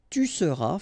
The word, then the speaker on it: tu seras: Je serai, tu seras, final S not pronounced, il sera, elle sera,